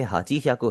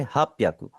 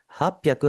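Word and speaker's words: 八百: 888 को क्या बोलेंगे, इसे आपने हाची ह्याकु हरगिज नहीं बोलना, आप इसे क्या बोलेंगे हाप प्याकु। हाप प्याकु हाची जियू हाची 888।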